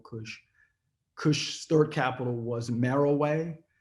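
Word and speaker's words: Meroe: kush third capital was merrill way if you look at it it looks like monroe it's m-e-r-o-e but it's merrell way that's how it's pronounced but alara rude from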